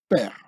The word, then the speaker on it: Per: While its original pronunciation is not known with certainty, but modern Egyptology assigns it the value of Per, eh?